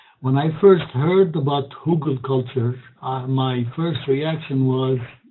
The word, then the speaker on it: Hügelkultur: All right, so with that, let's start with Hugelkultur. If you want to pronounce it the right way, the German way, it means hill culture. When I first heard about Hugelkulture, my first reaction was, it's not going to work.